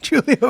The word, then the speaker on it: Giulio: Giulio What's up? with a hard G. Julio with a hard G.